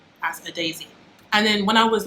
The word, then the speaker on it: Adaeze: i was like guys my name's not a daisy it's a daisy and my phone my